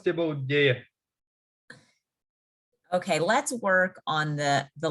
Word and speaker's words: deje: Deje means like, there's like when you pronounce it, there's like a way that you pronounce the D, like it's like a D. Like soft version of D.